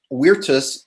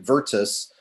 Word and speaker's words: virtus: forward during the presentation i'll pronounce weirtus using the latin pronunciation rather than vertus um but i'll pronounce victoria as victoria and the reason for